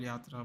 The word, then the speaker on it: jatra: in uh Goa jatra I'm not quite sure why you call it jatra if it's called yatra but we call it also India is a very complicated country with different pronunciations for everything so he has no